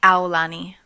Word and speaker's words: Aulani: It's Aulani. Aulani? Like Aulani. Am I saying it right? Aulani. Like, ow, I hurt myself.